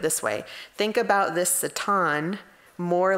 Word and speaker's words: Satan: the presence of the Satan, right? And in the commentary I read, it says it's pronounced with a short A sound.